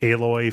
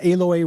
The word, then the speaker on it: Aloy: with the names like aloy feels like a direct uh uh illusion to the time machine to me like it's not spelled the same but it is said the same the fact that the